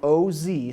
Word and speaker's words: Oz: with us it's spelled oszi so if you look it up online it's like like The Wizard of Oz but O's O's and I'm gonna try